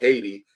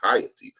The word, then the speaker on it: Haiti: uh Western Hemisphere and now it's called hiy or Haiti improperly but the correct pronounce is hiy shout out to Dr